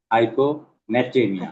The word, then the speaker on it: hyponatremia: Hyponatremia. হাইপোন না, হাইপো ন্যাট্রেমিয়া।